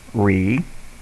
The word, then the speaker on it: remote: Remote. Long E, long O, silent E. Re is open. Mote is a V-E.